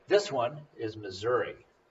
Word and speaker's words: Missouri: right this one is missouri which sounds like misery and you can remember